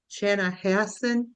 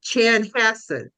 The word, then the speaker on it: Chanhassen: Chana Hassen, is it Kathy? Chan Chan Chanhassen, right? Okay. I always I never could pronounce it.